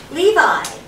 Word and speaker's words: Levi: al e v i levi you know like the jeans i had an amazing